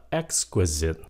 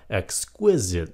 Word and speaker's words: exquisite: Vĩnh diễn ví dụ cái chữ này hồi xưa phát âm là exquisite exquisite cái chữ đó nhấn âm một mà hiện tại bây giờ Đa số người ta phát âm là exquisite nhấn âm 2 exquisite Tuy rằng cái